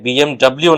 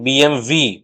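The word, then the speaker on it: BMW: কিন্তু German brand হওয়ার জন্য এই ডবলিউ কে কিন্তু জার্মানরা ভি হিসেবে উচ্চারণ করে। তাই বিএমডবলিউ নয়। আসল উচ্চারণ বিএমভি।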